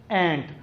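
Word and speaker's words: ant: बच्चों को ये खुद मुंह से बोल के बच्चे इसे प्रोनाउंस करेंगे एज एंट। अगर मैं बीइंग अ टीचर इसको आंट पढ़ाऊंगा तो ज़ाहिर है बच्चों ने भी आंट ही पढ़ना है।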